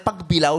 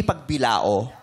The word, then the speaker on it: Pagbilao: Pero tama ba ang bigkas namin? Pagbilaw, hindi pagbilao. Pagbilaw, tama po.